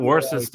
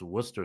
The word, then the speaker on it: Worcester: I mean, I kind of I I just I just It's not Worcester sauce. It's Worcester sauce. Worcester sauce.